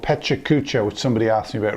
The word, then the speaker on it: Pecha Kucha: asks you about recently there is actually some debate as to how you pronounced this some people say it's Pachuca char and other forms which I won't attempt here is a Japanese person